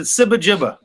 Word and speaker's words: SibaGiba: I pronounce it SibaGiba.